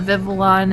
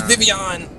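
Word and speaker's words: Vivillon: They still say I was going to say they call it Vivivalon and stuff. It's Vivian.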